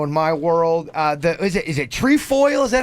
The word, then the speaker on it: Trefoil: Yes, trefoils.